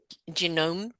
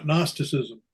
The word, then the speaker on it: Gnosticism: Um I'm probably pronouncing this wrong. Uh, genomeism, no gnosticism.